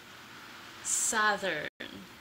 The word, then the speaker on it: southern: the sound together Saturn southern and make sure for th the the air comes out continuously so you don't want